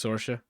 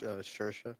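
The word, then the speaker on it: Saoirse: Her first name's Sorsha. Sorsha? Is that how you pronounce it? Yeah, no, Shersha. Shersha. I fucked it up.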